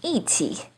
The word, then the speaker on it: 一起: In 一起, it's the fourth tone.